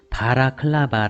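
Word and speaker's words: balaclava: 이 등산용품 뭐라고 부릅니까 바라 클로버 봐라 클립 어 바라크 라바 이런 식으로 조금씩 다르게 발음 하는데요 다름이 어렵죠 바라클라바 라고 해야 합니다 원래 바라클라바 는 우크라이나에서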